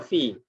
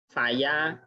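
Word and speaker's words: في: Nanti ketemu kalau susunan fi sama ya, maka nanti bacanya bacanya fi, ya. Tidak mungkin dibaca faya, dibaca fiu atau fuyu, enggak, ya. Jadi kalau susunan fa sama ya ini adalah dibaca fi.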